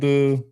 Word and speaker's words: SHEIN: Shane, that's how you pronounce that store, Shane. I think so. You've got Walmart and Shine.